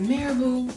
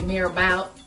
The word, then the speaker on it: marabout: all of the time what is marabu spiritual healing or as a lot of you say Mar about or Maro because it's a French word you don't know how to pronounce so we're going to